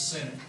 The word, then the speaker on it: Sinek: Do you guys know who Simon Sinek, am I pronouncing that the right way? The TED Talk guy is. Y'all heard of him? I think it's Senate.